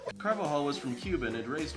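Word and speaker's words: Carvajal: should have their play Felix karvall is that how that's pronounced car ball think it's actually car vaginal car vaginal nice carvahal was from Cuban had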